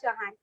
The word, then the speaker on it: Chauhan: So pronunciation, my name's pronunciation is Chauhan. Chauhan.